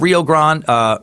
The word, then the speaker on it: Rio Grande: at a Laredo Texas around five miles of Rio Grande Rio Grande I do say thanks for putting